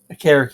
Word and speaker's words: Okereke: I'm probably saying it wrong now. Karake, that's how you say it now.